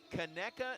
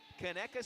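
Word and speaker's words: Conecuh: KKA sausage. That's spelled C O N E C U H. KKA Sausage.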